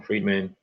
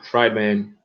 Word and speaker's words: Friedman: mean Haley so Friedman fried man I pronounce that Friedman because like treatment but yeah defended Israel's